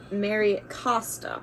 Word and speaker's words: Mary Costa: with that um and it says love always Mary Costa is how you pronounce it um and she was the original